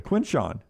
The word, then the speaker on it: Quinshawn: You even spell it right and say it wrong. It's the weirdest thing. Quinshawn.